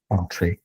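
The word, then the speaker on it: Entrez: So on-trace is spell this, and this is how you pronounce it, on-trace.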